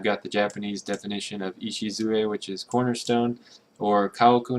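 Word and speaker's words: 礎: And the cornerstone kanji, which is that complicated Chinese character, that's pronounced Ishizue. So that's a lot of syllables for just that one character.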